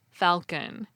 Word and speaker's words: falcon: a Latin word and now speakers pronounce the L Falcon that's also why receipt